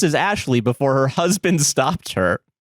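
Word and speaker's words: Ashliegh: Ashley, spelled a s h l i e g h, pronounced as Ashley before her husband stopped her.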